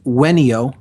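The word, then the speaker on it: venio: from the Latin verb there's really not a V sound in classical Latin it's pronounced with a W so it's ven io is the verb and it's pronounced when yo when yo when ER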